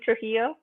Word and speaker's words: Trujillo: okay betty are you is your last name trujillo yes you pronounced it right okay perfect um and